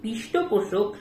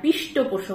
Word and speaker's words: পৃষ্ঠপোষক: আর পৃষ্ঠপোষক নয়, কথাটা হলো পৃষ্ঠপোষক।